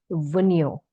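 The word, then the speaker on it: Wunjo: ठीक है, एंड द 8th symbol, symbol of वनियो। यहाँ पे जे साइलेंट है, समझ लीजिए एक ध्वजा के तरह, ग्रीन फ्लैग, हरी झंडी की तरह ये सिंबल दिख रहा है।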